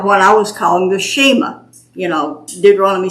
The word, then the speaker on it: Shema: the radio about what I was calling the Shema. Deuteronomy 6, "Hear, O Israel, the Lord thy God is one." And I was so excited to tell her, and she said, "It's Shema."